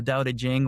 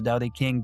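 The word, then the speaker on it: Tao Te Ching: So the the foundational text when it comes to daoism is really the the da jing or the da king depending on how you pronounce it and it's attributed to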